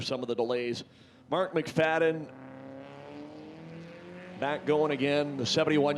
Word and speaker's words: McFadyen: f a d d n how about an m c f a d y e n but you don't pronounce it that way it's not mcfadyen mcfadden joey silas he's the engine pulling the train